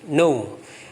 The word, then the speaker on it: know: K-nya tulisannya K-N-O-W. K-nya nggak usah dibaca. Jadi bacanya no. Bukan I know, may I know, bukan. Kayaknya nggak usah dibaca. May I know your name. Karena dalam bahasa Inggris itu banyak kata yang huruf-hurufnya itu silent ketika dibaca, atau ketika dibaca itu hurufnya itu hilang. Kayak ini, know ini, tahu. Harusnya ke know, tapi kayaknya nggak dibaca. Know. Itu silent letter.